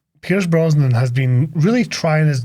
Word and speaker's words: Brosnan: Brumsman. Pierce Brosnan.